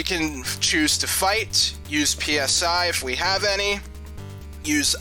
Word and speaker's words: Psi: Nintendo can also use Psi. I'm gonna try to pronounce it Psi and not PSI. It's short for psionics, so yeah.